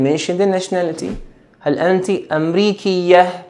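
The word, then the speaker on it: أمريكي: the nationality hello auntie Amriki yeah please note here that when we are pronouncing it and with a yeah sound and Mbeki are you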